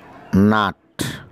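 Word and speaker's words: knot: নাট, গিট, নাট, কে এন ও টি, নাট, এখানে কের উচ্চারণটা নেই।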